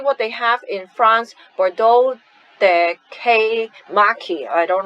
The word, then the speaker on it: Bordeaux: Try a Touch of Bordeaux. So this is a French word, it's a place in France. Bordeaux, we don't pronounce the consonant at the end.